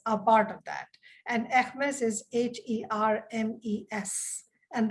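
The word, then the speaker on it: Hermès: part of that and ekmes is h-e-r-m-e-s and that is how it is pronounced in french so the essex business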